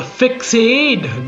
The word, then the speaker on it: Fixade: The Fixade drum. It's not that no one noticed the incorrect spelling, but rather that it gave it a certain sense of class. From simply being pronounced as fixed to fixade.